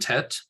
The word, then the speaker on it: Tet: So Tav and Tet both are pronounced the same, t as in toy.